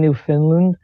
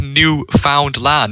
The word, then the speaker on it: Newfoundland: is not only does this like sound like you're just saying new finland it sounds like like if you look at the way it's spelled and then how it's pronounced it sounds like a finnish word as well it's literally it's not even finished it it just says new found land because it was the